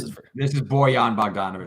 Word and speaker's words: Bojan Bogdanovic: How do you pronounce this? This is Bojan Bogdanovic. Bojan Bogdanovic.